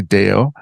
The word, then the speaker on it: Deyo: Can you tell me and my listeners who Nancy Deyo, am I pronouncing that properly? Deyo? You are.